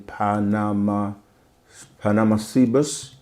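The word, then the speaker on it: Panamacebus: discovery, and it's saying Panama Cebus were found let me spell that, Panama, like Panama, and then Cebus.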